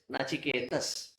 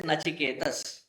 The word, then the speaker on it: Nachiketas: In Sanskritam, when we write the word that noun, it ends with sakara. Therefore, it is Nachiketas. The actual name. In again, we have Englishized it. Therefore, the word we often hear and use is Nachiketa.